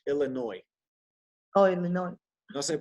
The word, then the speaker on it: Illinois: I moved to Illinois, to Chicago. Oh, okay, yeah. Huh? You know, in we don't pronounce the S on that state in English, Illinois. Oh, Illinois.